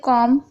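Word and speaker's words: comb: से पहले एम है, तो यहाँ पर बी साइलेंट है, बॉम्ब। इसी तरीके से कॉम, यहाँ पर भी देखिए एम पहले आ रहा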